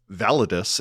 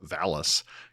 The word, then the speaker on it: VALIS: Christopher Phillips, Oracle of calling the book Validus instead of Valis.